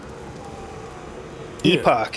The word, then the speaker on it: Epoch: Epoch.